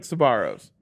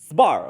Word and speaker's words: Sbarro: Y'all are saying it with 2 syllables Sabaro's. or 3 syllables. Sabaro's. It's supposed to be like Sbarro. It's yeah, Sbarro. Sbarro. Sbarro. Sbarro. You're still saying it Sbarro's. with 3.